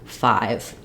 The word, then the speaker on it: five: rule about this is a silent e at the end makes the letter say its name so the letter which we call I we will also pronounce as I in this word five I've Rewritten that for